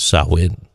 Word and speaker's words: Samhain: especially during the Celtic festival of Samhain, otherwise pronounced as Samhain.